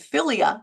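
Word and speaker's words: philia: start with that kind of the definition and filia filia is the first one that's p h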